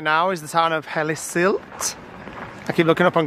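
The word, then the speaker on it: Hellesylt: rinsed too bad but the Google said hel silt h e l e s y l t so this is basically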